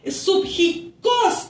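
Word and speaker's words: ψυχικός: Pero subjicos, con acento en la O al final y con K, que significa naturaleza más baja.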